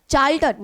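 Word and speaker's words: charlatan: चार्ल्टन and mount abaca चार्ल्टन यहां पे are silent है क्वेश्चनेबल डॉक्टर मतलब ऐसा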